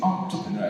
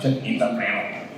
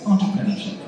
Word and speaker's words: entrepreneur: ENT the right word the right pration is entrepreneur it's not enterpreneur enterpreneurship it's entrepreneurship do you know that yes so don't say